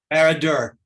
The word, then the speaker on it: Barad-dûr: Barad-dûr. Say that again, Bill. Barad-dûr. Okay, I was close.